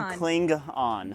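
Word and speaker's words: Klingon: am I that right I always have to make sure I pronunciate the G otherwise I'm a star a Star Trek fan and I do love St Trek so cling on very cool yeah what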